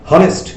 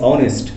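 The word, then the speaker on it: honest: আমরা কিন্তু বলছি না হাওয়ার, আমরা কিন্তু বলছি না হনেস্ট, আমরা কিন্তু বলছি অনেস্ট, আমরা বলছি আওয়ার। তো এইসের উচ্চারণ কিন্তু হওয়ার মতো হয় নাই, এই জন্য তার পূর্বে আমাদের কি বসবে?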